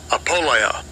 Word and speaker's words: apoleia: Apoleia. Apoleia. And that's how you say it in the Greek for the word perdition.